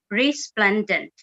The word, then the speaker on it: resplendent: For this meeting, word of the day is resplendent, and it is pronounced resplendent.